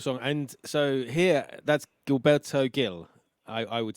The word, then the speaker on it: Gilberto Gil: Gilberto Gil. Gilberto Gil. Okay, so Gilberto the Gil. G Yes. is rather than a hard G in UK, it's like a J.